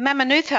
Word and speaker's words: Mamanuca: The Mamanuca Islands, the C is pronounced Th in Fiji, are everything you expect when you dream of Fiji.